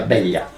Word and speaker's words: vella: Eh il centro storico di Barcellona infatti si chiama ciutatlia perché Bella in catalano si pronuncia beglia.